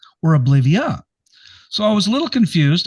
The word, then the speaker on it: Oblivea: And I was going to say oblivier or oblivia. So, I was a little confused. I hope I'm pronouncing it correctly.